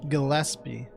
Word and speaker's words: Gillespie: I got an old lady yes Dahlia Gillespie Gillespie that's how you pronounce that tell me everything you know what's